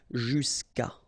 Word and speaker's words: jusqu'à: Normally what happens is that this final a will go away and then we'll put apostrophe. So that's the reason why we get this jusqu'à. Okay, and then phonetically, jusqu'à.